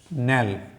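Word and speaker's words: knell: इसको स्टार्ट करते हैं के अल्फ़ाबेट शुरू करते हैं, और पहला वर्ड है नेल। ये के साइलेंट है, नेल, तो ये है डेथ नेल, डेथ नेल।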